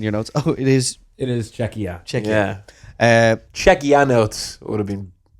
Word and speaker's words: Czechia: You have the pronunciation down in your notes. Oh, it is Czechia.